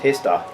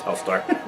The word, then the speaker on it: Helstar: the L is silent. It's HELSTAR. Oh, is that what it is? No, it's HELSTAR.